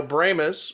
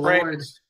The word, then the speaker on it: Brahmas: Yes, and they're pronouncing the Brahmas. Some of us, we pronounce it Brahmas, but they call it the Brahmas.